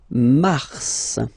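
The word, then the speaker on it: Mars: so in a way it's an exception because normally final s is not pronounced in French okay we've got some exception and this one is one of them so Mar pronounce the final s mar mar okay then ail ail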